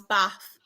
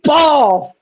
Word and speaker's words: Bath: Um not about Stevenage, about um how you pronounce Bath. So Darren has put it's pronounced Bath. B A F. Yes, I agree. Mr. Luke has put there isn't any R in bath.